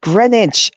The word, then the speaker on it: Greenwich: Oh, bro, it's Greenwich. I'm sorry. We pronounce it Greenwich. It's pronounced Greenwich. I know it's spelled how it's spelled, but it's actually pronounced Greenwich.